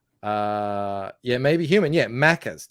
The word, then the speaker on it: Maccas: yeah maybe human yeah maccas no not makers like this let me spell it mackers m-a-c-c-a-s everyone calls it macca's like my four-year-old son